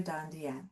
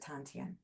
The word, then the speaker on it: dantian: This is your dantian, your energy center. Some people pronounce it tantien.